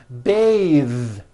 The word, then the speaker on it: bath: Bathe. The word bath is a noun with an unvoiced TH.